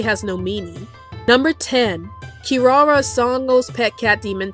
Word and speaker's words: Kirara: in the original Japanese translation the name is pronounced as Kirara and it's a translation of an onomatopoeic word